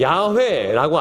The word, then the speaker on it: 야훼: 우리나라는 이 야훼를 발음할 때 이제 표기를 그냥 여호와라고 표기했는데 본래는 야훼라고 있는 게 맞아요. 근데 야훼라고 알려주셨지만 처음에 하나님께서 나는 있어라고 했을 때 에흐예 아쉐르 에흐예라고 했단 말이에요.